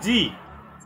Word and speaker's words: Sie: উচ্চারণ, আপনি উচ্চারণের সময় জি বলছেন। জি, আচ্ছা জি। হ্যাঁ হ্যাঁ, এস যদি বাক্যের শব্দের শুরুতে থাকে এবং ভাওয়ালের পরে বসে, তাহলে সবসময় বর্গীয় জয়ের মতো উচ্চারণ হবে। ঠিক আছে, বর্গীয় জ, জি